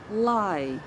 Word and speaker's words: lai: So the word once more is lai. Let's try to pronounce it together twice.